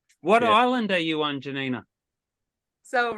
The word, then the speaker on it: Janina: welcome to the Insiders Janina is that how I pronounce it yeah it's Yanina Janina however you want to say okay so my name's